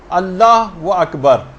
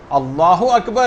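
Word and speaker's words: الله أكبر: جو آپ کہیں گی۔ بہت سارے غلط تلفظ لوگوں کے اندر رائج ہیں، مثلا اللہ و اکبر، اللہ اکبر ہے، اللہ و اکبر نہیں، اگر کوئی ایسے کہہ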